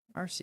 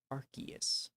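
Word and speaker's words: Arceus: Arus is shiny. Good. I literally just did the thing that I get on other people about. He's literally officially pronounced Archus.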